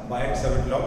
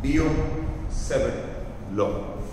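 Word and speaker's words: Biot–Savart: Law, usually pronounced as Bayer Seven law, but the T is silent. So I will always call it Bayer Seven law.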